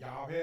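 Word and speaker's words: 야훼: 라고 하는 말의 의미입니다 실제적인 발음은 야외 라가는 어 관이 더 훨씬 정확한 나름이라고 그렇게 이야기 할 수 있겠습니다 이제 나는 스스로 있는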